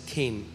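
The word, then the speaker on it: חן: लिए है वह है केन इट सी एच एन बट it's pronounce S केन और जब मैं इस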